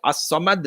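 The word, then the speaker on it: الصمد: The fact that Alif Lam in the word As-Samad, Lam is silent, the way that Allah cannot be comprehended by the senses does not mean it negates his existence.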